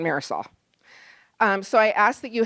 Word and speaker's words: Marisol: If that's difficult, a little trick, if you pronounce the R like a D, you get closer to rolling the R. So Ma, D, Sol is closer than Marisol.